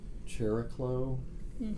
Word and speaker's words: Chariklo: So the Centaur Chariklo, perhaps pronounced that way.